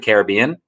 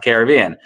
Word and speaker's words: Caribbean: So like, so it's very frustrating, but if you can pronounce it the same way or you could pronounce it either way, and they are both actually correct.